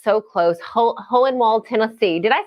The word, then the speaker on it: Hohenwald: I always get nervous when I try to pronounce Hohenwald but you have a good German name Hohenwald you did fine oh good good good we